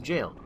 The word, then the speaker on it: gaol: y sound at all likewise gaol is just pronounced jail that's just how you spell that's just how you say jail hey buddy can we